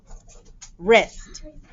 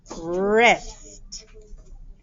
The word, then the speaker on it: wrist: have this digraph where the w is silent and the o says its name now okay the next word is wrist wrist pablo wears a watch